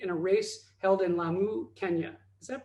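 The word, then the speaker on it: Lamu: team to compete in a race held in la mu kenya is that pronounced right yeah and she's currently sailing on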